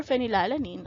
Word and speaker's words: phenylalanine: become k then for phenylalanine i guess the reasoning here is again sounds like the the ph sound is pronounced as an f so it's a phenylalanine